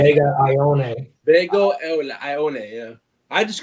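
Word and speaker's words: Ioane: They say Vega Ione.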